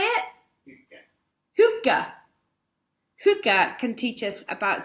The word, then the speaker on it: hygge: His subject is what Hygge, oh shit, I practiced pronouncing it right. You see, how do I say it? Hygge.